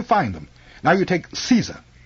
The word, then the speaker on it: Caesar: Now you take Caesar. It's Latin. In Latin it's pronounced like Kaiser, with a hard C, but we anglicize it by pronouncing a soft C.